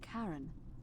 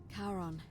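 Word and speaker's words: Charon: It's just as you described it, only your pronunciation is a little off. The name you heard wasn't Karen. It was C H A R O N as in Kon, the fairyman of the dead. Karon, who in exchange for the right coin, helps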